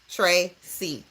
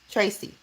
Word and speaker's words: Tracee: So my phonetically would be T R A Y C. That's phonetically. Trey C. Tracy. That's the phonetic pronunciation of my name.